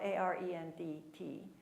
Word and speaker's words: Arendt: It's spelled A-R-E-N-D-T, Arendt.